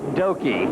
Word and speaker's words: Doki: other drivers to get the proper pronunciation of doki I'm glad you got that straight because I was going to say dookie I saw a dookie